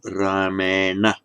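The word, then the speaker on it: रामेण: Let's take the word Rama, instrumental, Rama, instrumental Ramena. Now, Rana, Varna, Rana, Ramena, N becomes retroflex after the R.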